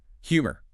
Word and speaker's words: humor: With humor, do not silence the H. In Portuguese, the H is silent. In English, it requires a push of air from the diaphragm.